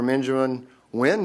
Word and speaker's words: Benjamin Nguyen: Benjamin Nguyen, and you said that was a proper pronunciation of your name, Senior Product Manager, Transcarent.